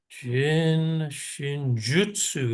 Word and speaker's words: Jin Shin Jyutsu: Creator through compassionate human Jin shinjutsu is actually how it's pronounced in Japanese jutu yeah jinu those